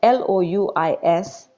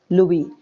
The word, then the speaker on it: Louis: name r-o-b-e-r-t robert and l-o-u-i-s louis though s is here s should be silent so you will pronounce it as louis robert louis stevenson okay